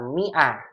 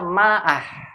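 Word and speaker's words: مائة: Yaitu mi'ah ditulis seperti ini, mi'ah, pakai alif. Alifnya nggak dibaca. Mi'ah, begini. Mi'ah, huruf alif pada kata tersebut tidak dibaca. Sehingga kita bacanya mi'ah, bukan dibaca ma'ah.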